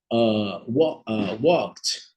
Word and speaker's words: walked: ali como uma sílaba o e não é pronunciado nesse caso e a a a